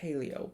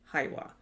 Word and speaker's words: Hailuo: I used to call it Hailuo, but it's really Haiwa. And it's spelled Hailuo.